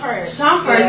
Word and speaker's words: Shumpert: It's about her in a relationship with her husband, who is a known basketball player named Iman, how do you pronounce it? Shumpert.